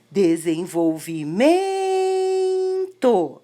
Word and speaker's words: desenvolvimento: Desenvolvimento é o MEN, M-E-N.